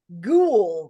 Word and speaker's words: ghoul: Instead, we are going to use the word ghoul, which for those of us who are not familiar is spelled with a silent H.